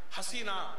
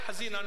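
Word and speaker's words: حسينة: இடத்தில் ஜெட் உடைய இடத்துல ஹஸீனான்னு சொல்லுவோம் இல்லையா அப்படி சொல்லக்கூடாது ஹசீனா என்றால் அழகு ஹஸீனா என்றால் கவலை குத்துக்கம் என்று அர்த்தம் எனவே உச்சரிக்கிற நேரத்துல சரியா உச்சரிக்கணும் பேர் வைக்கிறதுல கூட ஒரு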